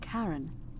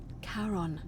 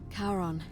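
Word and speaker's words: Charon: is a little off the name you heard wasn't Karen it was c h a r o n as in karon the Fairman of the Dead karon who in exchange for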